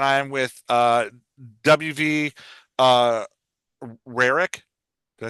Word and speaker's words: Rarick: All right, I hit record and I am with WV uh Rarick.